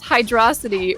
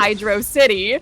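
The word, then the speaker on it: Hydrocity: desaris who says firstly it's hydrosity rhyming with atrocity not Hydro City secondly someone tell Huds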